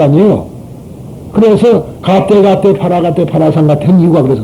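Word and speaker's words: गते: 그래서 가떼 파라가떼 파라상 같은 이유가 그래서 그래요. 인도 사람이 가떼 그러고 중국 사람도 가떼 그러고 일본 사람은 조금 다릅니다. 갸떼 똑같은 소리예요.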